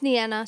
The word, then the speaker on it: Nana: I, is it? Well, it's Nana. Some people call me if it's easier, but Na, you can take the time to pronounce it correctly.